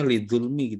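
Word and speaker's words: لِلظُّلْمِ: Tapi tetap bacanya lidzulmi gitu ya. Ya. Kan dia idgham syamsiah Ustaz.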